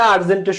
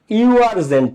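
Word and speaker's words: urgent: এইটারও শুরুতে ইউ আছে ইউনিভার্সিটির শুরুতে ইউ আছে আর্জেন্টের শুরুতেও ইউ আছে কিন্তু যখন তুমি ইউনিভার্সিটি উচ্চারণ করতেছো তখন এই ইউ ইউ হচ্ছে উচ্চারণ যখন তুমি আর্জেন্ট উচ্চারণ করতেছো তখন তোমার ইউ আ হয়ে যাচ্ছে ইউ আরজেন্ট না আরজেন্ট এটারে কি তোমরা ইউ আরজেন্ট বল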